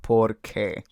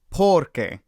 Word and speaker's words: porque: So why is porque, because is porque. So the stress is on different parts of the words. Porque, porque.